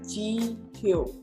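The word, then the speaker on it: 지효: Jadi yo di sini kita hapus pelengkapnya, pakai yo asli, kita pindahkan di bawahnya si huruf H tadi. Jihyo. Gitu. Ini bacanya adalah Jihyo.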